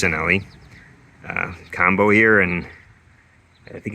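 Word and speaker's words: Cinelli: Instead of a kind of a cheapy handlebar stem combo, we've got a nice Sinelli I think it's pronounced Schwinn-only combo here, and I think it's also called a pantograph.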